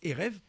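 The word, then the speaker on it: ערב: Alors la lettre B là, la lettre V, on voit bien c'est un B. On prononce Erev, mais ça s'écrit avec un B.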